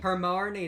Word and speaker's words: Hermione: You know in Harry Potter, whenever Harry and Hermione, Hermione can't pronounce her name. Hermione, that's what it is.